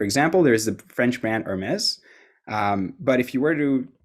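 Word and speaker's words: Hermès: you can see now it's nailed the pronunciation based on the text that i've written down instead of pronouncing it the old way which was again my favorite brand is air mass so that was just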